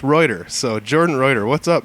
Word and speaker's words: Reuter: It's pronounced Reuter.